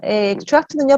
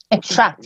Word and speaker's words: extract: extract는요, 사실 발음이 2개입니다. 제가 지금 extract 이렇게 했는데 이건 얘가 동사란 얘기예요. 명사가 되면 extract가 됩니다. 강세가 달라져요. 명사일 때는 앞에 강세가 와요. extract가 되고요. 명사일 때 동사면 뒤에 강세가 갑니다.